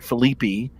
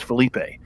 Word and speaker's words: Felipe: wrong I said no my name is Felipe it's not Phillippi and she goes well that's how we say it in Texas well lady I don't live in Texas and my name is Felipe and I'm not gonna